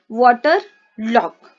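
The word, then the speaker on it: waterlogged: वाटर लॉग। ठीक है, ईडी जो है ये साइलेंट हो जाएगा।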